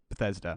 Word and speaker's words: Bethesda: Bethesda.